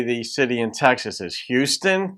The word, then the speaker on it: Houston: Houston, that's how most people say it. In New York City, for some reason, they say it Houston.